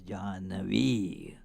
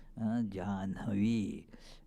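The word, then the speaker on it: जाह्नवी: It is from the sage Jahnu, and so it got the name Mother Jahnavi. So it is spelt wrongly in colloquials because the pronunciation is Jahnavi in colloquials, but that is not correct. It is Jahnavi is the Sanskrit pronunciation.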